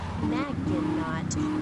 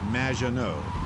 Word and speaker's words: Maginot: Maginot. Welcome to the show. Thanks, Amy. However, you have mispronounced my name. It's Madge, which rhymes with badge, as in duh, and no as in more than you. Maginot.